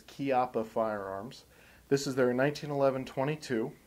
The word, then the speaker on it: Chiappa: Now, first and foremost, I want you to note the name of the company, even though it's spelled CH, is actually pronounced like a K. So it's Chiappa Firearms.